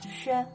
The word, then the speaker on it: 雪: Now, xi plus yu plus e makes 雪.